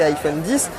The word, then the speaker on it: iPhone X: Autre nouveauté de cet iPhone X, à prononcer iPhone 10, c'est ce double capteur photo.